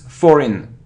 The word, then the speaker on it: foreign: I I it isn't it isn't foreign foreign or forign it's foreign it's e e foreign foreign like here foreign it isn't consist or